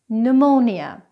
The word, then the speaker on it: pneumonia: The silent P is not normally pronounced when it comes after an N, an S or a T (PN PS PT) like the words pneumonia psychology receipt now let's go through